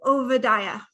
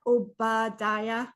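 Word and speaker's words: Obadiah: to OA okay so it's not Oba or Oba or obad it's OA OA um in Hebrew the B's sound like V's for you Southerners vad that's how you say it not OB um okay let's get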